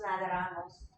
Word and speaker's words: nadamos: Nosotros nadamos. Too many syllables. Yes. One more time. Nadamos.